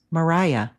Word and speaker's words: Mariah: Call the Wind Maria, but they pronounced it like my name sounds, Mariah.